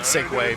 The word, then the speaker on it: segue: segue a se because there was no way in my brain that segue was the word segue because for me the first time I heard Segway was the segway.